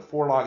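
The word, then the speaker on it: Vorlage: the fora um and that's a German word the the is f pronounced F in German the for log it means something like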